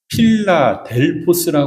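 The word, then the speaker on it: Φιλάδελφος: 필라델피아 여기에서 나온 겁니다 원어로는 이렇게 발음됩니다 필라델포스 하는게 아주 정확한 이름이거든요 두 단화가 합쳐진 거예요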